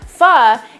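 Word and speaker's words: phở: a tonal language but pha is typically pronounced so you kind of go up with your inflection i obviously don't am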